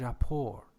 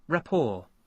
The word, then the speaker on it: rapport: or a PPO RT as far as I know it is rapport but let me check it it is reports a French word which means relationship strong relationship hold on rapport rapport yeah rapport both